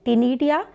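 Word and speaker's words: Ctenidia: टिनीडिया सी silent है student.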